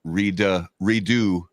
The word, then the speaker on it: Redux: Pronounce Redux with an X or redo with a silent X? I I say the redux, dude.